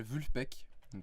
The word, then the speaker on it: Vulfpeck: groupe de musique de funk américain qui s'appelle vu le pecq ça a l'air un peu compliqué quand on prononce comme ça mais ça se prend vraiment